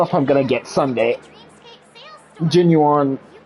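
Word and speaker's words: Jing Yuan: Jin Yuan, okay.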